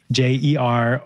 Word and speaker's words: Jeroen: My Instagram is my first name, which is spelled Jeroen, you would say, Jeroen, and then is love is my affirmation.